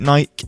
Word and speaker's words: Nike: Yes, I pronounce it Nike. I am English.